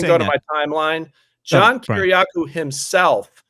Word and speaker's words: Kiriakou: I think you pronounce his name Kiriakou.